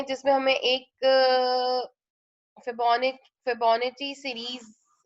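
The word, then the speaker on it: Fibonacci: अच्छा, इसको कोई कोई लोग फेबोनिक, कोई कोई फेबोनिका है, डिफरेंट प्रोनाउंसिएशंस होती हैं इस सीरीज की, लेकिन इसकी जो इन एक्चुअल प्रोनाउंसिएशन है वो फेबोनाची सीरीज है, ठीक है।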